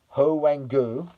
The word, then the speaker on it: Hwang Ui-jo: Julian Quiñones of Mexico, Raúl Jiménez of Mexico, uh In-beom Hwang of South Korea, Hwang Ui-jo of South Korea. That's his correct uh pronunciation, Hwang Ui-jo.